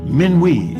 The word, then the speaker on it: Minuit: Minuit in French gets an extra syllable in this West African pronunciation.